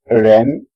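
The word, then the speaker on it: 人: It's not like ren, but it also has a bit of J sound in it.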